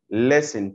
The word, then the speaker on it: listen: Listen to, التي هنا مش بننطقها.